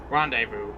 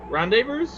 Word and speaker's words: rendezvous: that's the Space Station rendezvous rendezvous rendezvous rendezvous the S is silent why is it just